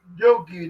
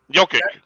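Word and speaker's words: Jokić: Golden State, and then Jokey, the guy for the Nuggets. Jokic. Yeah. Jokic. I said his name wrong, but I'm looking at the player, Jokey.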